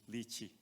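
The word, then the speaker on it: Lechee: we are going to a place called lychee Le capital c-h-e-e lichi is how you pronounce that and it's near Page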